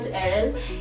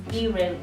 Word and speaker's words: Irel: No, it's not Erel. It's Irel.